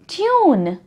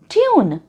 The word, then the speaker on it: tune: जैसे कि cube, CUBE, cube, और ट्यून, TUNE, ट्यून। इन शब्दों में यू बीच में है और क्योंकि ई एंड में है तो इसके स्वर का उच्चार होगा यू।